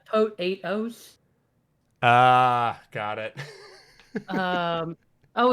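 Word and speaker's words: Potoooooooo: yeah or or yeah so it's a tote eight-house ah got it um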